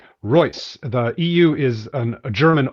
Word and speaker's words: Reuss: I get it right Roy the EU is an German oi like in Freud okay so it sounds just like the Royce and Rolls-Royce just spelled differently the Roy okay good